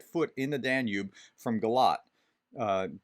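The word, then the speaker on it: Galați: in the danube from galat uh g-a-l-a-t-i is pronounced galat it's in romania just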